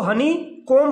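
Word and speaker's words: honeycomb: चीज और याद रखना हनी कोम मत पढ़ना हनी कोम पढ़ा जाएगा बी बिल ब साइलेंट आफ्टर एम एम के बाद प्यारे छात्रों जो बी होता है हमेशा साइलेंट रहता है ठीक है तो इसको हनी कोम पढ़ा जाएगा हनी कोम नहीं पढ़ा जाएगा ठीक है हां तो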